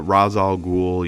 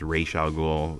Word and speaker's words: Ra's al Ghul: they also like uh Razzle ghoul you know it's actually pronounced racial goal you know for those who've watched the animated movie I mean yeah I